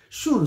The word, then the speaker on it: June: Shun o Shan Shun se pronuncia Carter.